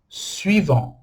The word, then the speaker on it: suivant: Depois, aqui a gente já não pronuncia o T. Fica suivant. Olha o som anasalado aqui que a gente viu mais cedo. ANT. On. E aqui, suivant. Beleza? O T no final não é pronunciado.